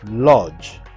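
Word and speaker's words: Łódź: shopping streets, while movie buffs can discover why Wood is nicknamed Poland's Hollywood during a visit to Wood Film Museum.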